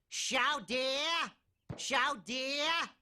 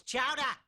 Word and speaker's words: chowder: Chow dear, it's chowder. Say it right.